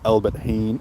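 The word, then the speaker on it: Albert Heijn: Pronounced Albert Heen.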